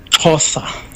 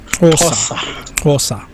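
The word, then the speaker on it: Xhosa: s a can you give us the proper pronunciation of uh this word the word is tosa tosa all right yes yeah you got it right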